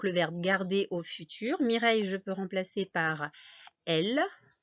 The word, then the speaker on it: Mireille: c'est un prénom et mireille je vous ai dit ça s'écrit ça se construit comme abeilles donc le son et y y ici avec i 2 l e puisque c'est un